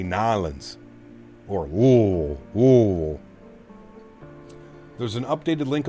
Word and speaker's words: New Orleans: You can't say New Orleans. You have to say Nalins or There's an updated link on the forum for PMGD.